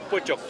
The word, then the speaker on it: Pojok: Pojok, alors comment tu le prononces? Pojok. Pojok, ok.